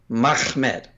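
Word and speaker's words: מחמד: Yeah, it's we were talking about the pronunciation earlier, but yeah, it's Mem Ha Mem Dalet. That's Mahmed.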